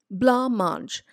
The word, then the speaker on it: blancmange: Blancmange. B-L-A-N. Blanc. C is an extra letter which is not sounded.